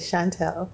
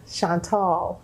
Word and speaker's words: Chantel: a right pronunciation that's a good way to pronounce it Chantelle okay well you said something about your grandma Yeah my grandmother she would say Chantel okay and my mom says Chantal because it's true oh it's French Sean Paul